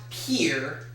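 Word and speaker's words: Pierre: The answer is State whose capital is properly pronounced Pier.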